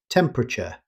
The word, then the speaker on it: temperature: Likewise, temperature is usually simplified. Rather than pronouncing every syllable, native speakers say temperature. The extra vowel after the P is often dropped.